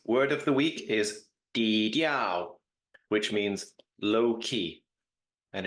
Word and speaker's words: 低调: Hi, this week's word of the week is dīdiào, which means low key, and it is pronounced 低调， dīdiào, 低调， dīdiào, and it means low key or low profile as opposed to flamboyant or high profile.